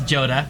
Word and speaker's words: Joda: speaker out there it's it's not pronounced Yoda it's Joda he's coming in at